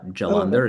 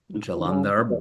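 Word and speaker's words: Jalandhara: in the in the chat, but it's uh Jalander is J A L A N D H A R. Jalander. Jalandar Bandha B A N D H A.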